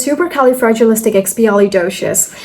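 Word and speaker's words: supercalifragilisticexpialidocious: So first it's super then it's Cali then it's fragileistic fragilistic Xpi Xpi and doshious doshious. So it's super kelly fragilistic xpi doshious super cali fragilistic xpali doious.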